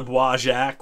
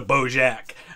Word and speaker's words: Bois Jacques: My favorite is when he goes to the Bois Jacques, which means Jack's Woods in French. And he calls it the Beau Jacques.